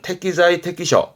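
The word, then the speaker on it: 適材適所: 발음은 태기자의 태끼셔 태기자의 태끼셔.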